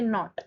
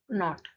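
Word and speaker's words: knot: Next है हमारा, इसको पढ़ेंगे नॉट, इसमें के साइलेंट है और इसको पढ़ेंगे नॉट, तो ये तो सेम हो गया।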